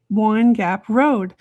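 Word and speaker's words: Wind Gap Road: is an area called Wine Gap Road. And actually, it's spelled Wind W I N D, but a lot of the locals call it Wine Gap Road.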